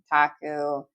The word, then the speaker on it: gyotaku: Gil, one syllable if you're trying to say it in Japanese means fish. Taku, two syllables meaning impression or rubbing. Now, if you say guaku, nobody's going to hate on you. But if you wanted to sound a little more authentic, you can say and combine it all together.